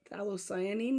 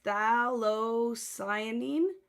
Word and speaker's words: phthalocyanine: But I think the F is silent. So I think it's phthalocyanine green, pterodactyl green.